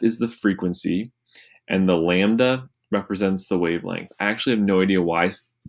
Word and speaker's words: lambda: It's actually a Greek letter, and how you say it is lambda.